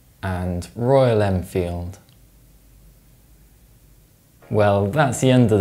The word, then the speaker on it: Royal Enfield: If you pronounce the M sound in Triumph and the M sound in Royal Enfield, you're wrong. That's because when these sounds are followed by the F sound, they're dentalized.